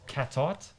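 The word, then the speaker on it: Cattaert: yeah close so yeah my surname is uh is belgian oh so it's a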